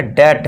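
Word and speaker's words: debt: तो अब इसे हम क्या पढ़ेंगे, डैट। अब कैसे पढ़ेंगे, देखिए डी के लिए हम करते हैं ड, ई के लिए एक ही मात्रा लगाई दी, बी तो साइलेंट है, भूल जाओ, है नहीं, भगा दिया। अब टी के लिए क्या लिखते हैं हम, ट, तो ये क्या हो गया हमारा कंप्लीट डैट। इसी तरह देखिए टी से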